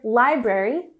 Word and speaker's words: library: And here, library, we have the emphasis on the first syllable, library, library.